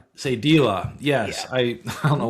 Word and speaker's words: Sadilah: And, um, I was on your website, which, uh, can you pronounce that for me? Uh, Sadila. Selita. Sadila. Sadila.